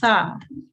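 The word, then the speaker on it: ث: So I'm going to quickly pronounce this letter for you, this one that's just highlighted, the Tha. And this is the letter we're looking at to pronounce it correctly.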